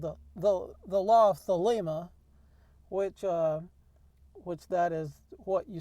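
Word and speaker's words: θέλημα: So the word here is thelema. So we get the pronunciation.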